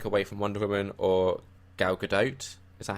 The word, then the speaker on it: Gal Gadot: to take anything away from Wonder Woman or Gal Gadot. Is that how you say it? Yeah, Gal Gadot.